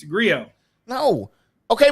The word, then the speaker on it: Grillo: I'm American it's a Grio no okay why do you pronounce the L in his first name and not in the in the last name I mean why is